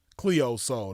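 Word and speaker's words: Cleo Sol: It's Cleo Soul, but Soul is spelled like sun in Spanish, SOL.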